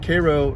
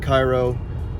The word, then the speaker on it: Cairo: from atlanta georgia to cairo georgia it is pronounced cairo not cairo so make sure if you guys ever come